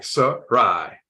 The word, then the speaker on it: Sarai: has a pronunciation key Sarai yep s-a-r-a-i sir Rye watch boom oh you can't